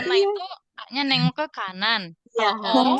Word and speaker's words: 칸: Yang ini dibaca A, yang ini dibaca An, yang ini dibaca Kan. 칸.